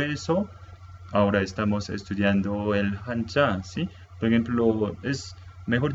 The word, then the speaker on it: 한자: Hanja. En coreano pronunciamos como hanja, ¿sí? No sé cómo los chinos pronuncian, cómo se pronuncian, pero los coreanos pronuncian como hanja y los japoneses pronuncian como kanji, misma palabra, pero cada nación pronuncia diferente.